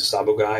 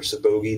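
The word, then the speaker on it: sabogae: And then from Panama, We then have the first subspecies that we can talk about, which is Sabogai or Sabogi, depending on what way you want to pronounce it, the Pearl Island boas.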